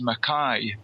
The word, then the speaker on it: Mackay: date about this but my second name is actually pronounced maai as in you know your ey so my name is maai but I don't know